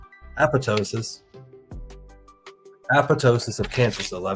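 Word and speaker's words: apoptosis: p o p t o s i s oposisi think I'm saying it right apotosis apotosis of cancer cells I think I'm pronouncing it right then but that actually explains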